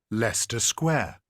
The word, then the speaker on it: Leicester Square: Correct, is Leicester. So we have in the very first part, we have this stress syllable, okay?